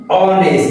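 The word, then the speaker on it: honest: থাকে সেক্ষেত্রে আমাদেরকে এন নিতে হবে তাহলে এটির উচ্চারণ অনেস্ট তাহলে এইচ এর উচ্চারণ বুঝ থাকতেছে এজন্য আমরা নিব এন তাহলে এটি হবে everybody রেস্পেক্টস এন্ড অনেস্ট person okay dear viewers give me dash cup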